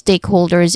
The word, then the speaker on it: stakeholder: Pronunciation wise stakeholder. There's three distinct sounds starting with steak which is our primary stress still on the first syllable. Steak. This sounds exactly like the word steak.